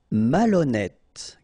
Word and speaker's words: malhonnête: décider, malhonnête. Okay, remember, H doesn't exist, so malhonnête. Don't insist on the final E. Malhonnête. And here you get E accent circonflexe, so you pronounce it like E.